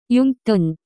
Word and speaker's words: 용돈: The pronunciation of this word is closer to 용돈.